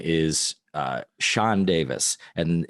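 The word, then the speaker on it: Sian: because that actress uh whose name is uh Sean Davis and it's uh spelled s-i-a-n it's pronounced Sean not Sean but Sean um she's Welsh so uh maybe they were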